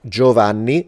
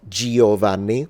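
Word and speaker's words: Giovanni: the same concept right so it's like um Jovani not Giovani that e is not pronounced it's only there to influence the way the G's pronounced because otherwise without that I would have to read it goani um but it's not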